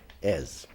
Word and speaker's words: as: Embora você veja aqui a letra S, mas a pronúncia é Z, então é as.